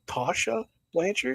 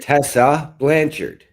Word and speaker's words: Tessa Blanchard: next Challenger it is how do you Tasha Tasha lancher Tessa Blanchard Tessa Blanchard yes I'm sorry I'm I have a pronunciation issue people so if you hear me